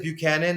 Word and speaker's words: Buchanan: I hope he does, because let me make sure I'm pronouncing it. It is Buchanan.